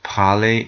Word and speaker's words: parler: Parler, parler, parler. You'll notice that the E and the R sound is an A sound.